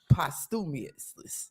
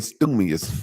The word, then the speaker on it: posthumously: Posthumously. Through the wall. Through the wall. So posthumously. Posthumously. You keep saying stumious.